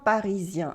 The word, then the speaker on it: parisien: We have mon chien parisien. As you can see, this EN that should be a on sound becomes yen after I.